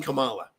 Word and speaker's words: Kamala: It's fucking Kamala.